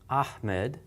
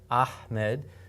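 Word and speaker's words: أحمد: You hear it's got a hard H sound, but it's a ha. Very often you'll hear this pronounced incorrectly as Ahmed. Ahmed is not the name, okay? And that's wrong.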